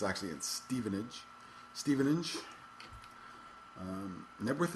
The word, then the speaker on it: Knebworth: in stevenage stevenage um nworth is not a town by the way nworth is I don't know what that is I don't know why the K is silent I know virtually I'd